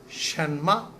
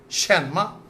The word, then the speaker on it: 什么: Shenma. The meaning is written at the end. What? What? Shenma. Shenma. So here we can see Shen is in second tone. Ma is in neutral tone.